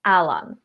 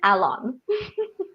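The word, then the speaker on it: Alon: Prince zuku pronounce it it's Alan Alan long o like it's the word for wave in Tagalog it's also a name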